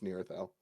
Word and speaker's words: Nearthel: But if you did want to know how to say this, it's Nearthel. Nearithel.